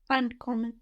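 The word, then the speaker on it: ankommen: means to come on uncommon uncommon with this verb split yes why because the accent is on that one good and an is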